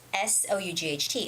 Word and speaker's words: sought: thought thought okay but when i'm saying the word with an s s-o-u-g-h-t it's thought sought no tongue sawed sought sought thought